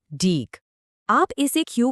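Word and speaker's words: deque: पर, जिसका नाम है डीक। आप इसे क्यू का एक एडवांस्ड या ज्यादा पावरफुल वर्जन समझ सकते हो। डे क्यू, जिसको हम डेक की तरह प्रोनाउंस करते हैं, इसका पूरा नाम है डबल एंडेड क्यू।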